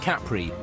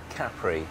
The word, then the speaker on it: Capri: As many as 20,000 tourists a day disembark at Capri, lured here by its movie glamour, dramatic topography and reputation for risque revelry.